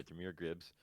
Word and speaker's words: Jahmyr Gibbs: Is that how you pronounce it? Yep. Yeah, Jahmyr Gibbs.